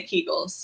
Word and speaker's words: Kegel: go with what you say okay i say kegels okay so we're talking about kegels but we're talking about these as related to